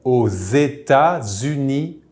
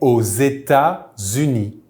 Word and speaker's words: aux États-Unis: les États-Unis in French, we use the preposition au, ending with an X. So we will make the Z sound for the liaison since this country starts with a vowel.